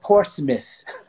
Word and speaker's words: Portsmouth: A cidade chama-se, para nós, Portsmouth. M-O-U-T-H, Mouth. Mas o pessoal de New Hampshire, aqui no norte dos Estados Unidos, pronuncia Portsmouth. Quase cuspindo em você.